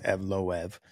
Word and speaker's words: Evloev: saying Eve off and everyone's like, "No, it's Evloev."